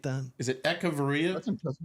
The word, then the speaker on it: Echavarria: Do you know that I actually studied how to pronunciate that? Is it Echevarria? That's impressive. Echevarria.